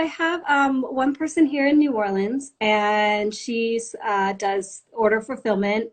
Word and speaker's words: New Orleans: in New Orleans correct yes yes am i pronouncing that right because I'm not from the South yeah New Orleans is fine yeah yeah no I'm from California